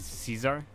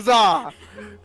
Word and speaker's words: czar: So you think it's pronounced Caesar? You think it's card czar? He's not pronounced card czar. I'm the card czar.